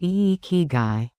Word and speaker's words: Ikigai: They discovered a concept called Ikigai, pronounced Ikigai, which roughly translates to reason for being or purpose in life.